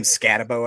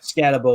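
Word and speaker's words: Skattebo: right here scat how how did you say his name I don't know it's cam scabo I believe yeah scabo is how I've always heard it so we've got scabo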